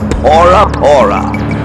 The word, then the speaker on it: Bora Bora: The letter B does not exist in the Dahian language and Bora Bora should actually be pronounced Bora Pora.